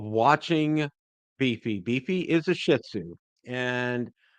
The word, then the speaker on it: Shih Tzu: Beefy is a Shih Tzu, and emphasis on the first part of that syllable.